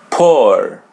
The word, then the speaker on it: por: Poor. Poor. Yeah, there's a letter R in the end. We pronounce it as R in English.